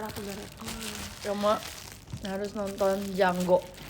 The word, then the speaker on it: Django: Terus kayak oh yaudah pas akhir-akhir aku baru Cuma harus nonton Django. The D is silent.